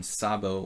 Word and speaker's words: Szabo: he is from Hungary we should pronounce it correctly Saab as in Szabo or Szabo very typical Hungarian syllable you're you're running out